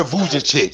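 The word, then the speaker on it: Vujačić: Sasha Vujacic.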